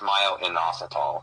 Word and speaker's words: myo-inositol: I'm sorry, it's myo-inositol. That's how you say it.